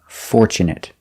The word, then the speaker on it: fortunate: Tu in the middle of the word is pronounced ch, and not for chew, but for che, fortune, fortunate, fortunate.